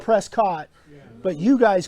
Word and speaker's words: Prescott: 5th we are in prescott valley that's how you say it right prescott or out of towners call it prescott but you guys call